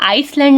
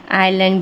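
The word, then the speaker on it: island: silent हो जाता है जिसका एग्जांपल है आइलैंड आय और एल के बीच में एस आया है तो यह एस साइलेंट हो जाएगा जिसे बोला जाता है आइलैंड कभी हम आइसलैंड नहीं बोलते इसे आइलैंड बोलते हैं जिसका हिंदी मीनिंग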